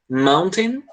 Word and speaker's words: mountain: Mountain, é tipo um tan, tá bom?